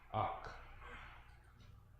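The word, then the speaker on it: אח: This one is pronounced ak, ak, ak, which means what?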